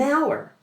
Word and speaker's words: hour: Another great example is half an hour. The F at the end of half blends right into an and hour has a silent H at the beginning.